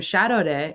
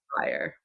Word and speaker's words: Sharareh: and I'm gonna have people call me by my birth name Shadow day it's not that hard and if we can all say Willem Dafoe and any other white male name that's impossible to pronounce we can all Sayre what does it mean